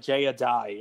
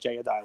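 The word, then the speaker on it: jai alai: it's um it's it's pronounced like jayadai it's a spot like jayadai like j-a-i-a-l-a-i hi-li it's fun man you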